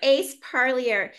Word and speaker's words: Ace Parlier: of in interviewing Ace Ace do you mind pronouncing your full name it's uh parier par yeah yes so Ace Parlier and he is a very patient understanding man